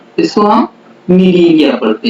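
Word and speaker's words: Cnidaria: इसकी स्पेलिंग और प्रोनाउंसिएशन जो होता है बड़ा ही डिफरेंट होता है। इसको हम नीलीरिया पढ़ते हैं।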